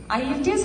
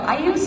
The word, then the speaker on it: IELTS: IELTS അല്ല കേട്ടോ, IELTS എന്ന് പറയണം. That is the correct pronunciation.